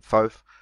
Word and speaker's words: Thoth: So we have Thoth or Thoth or some other Thoth sometimes pronounced as well, but I'll be calling him Thoth.